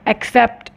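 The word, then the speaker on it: accept: डिड नॉट एक्सेप्ट इट कुछ लोग इसको गलत प्रोनाउंस करते हैं एक्सेप्ट दिस इस एक्सेप्ट नॉट एक्सेप्ट इसकी करेक्ट प्रनंसीएशन है एक्सेप्ट सो कॉइन नकली था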